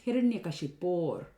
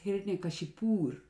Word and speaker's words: Hiranyakashipor: So with sandhi, it becomes Hiranyakashipor. Now this is mispronounced as Hiranyakashipur, just like towns in India, Nagpur, Kanpur.